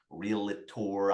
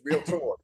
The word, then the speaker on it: realtor: to that that word I don't let students say a three syllable word it's real tour two syllable real tour right anytime they come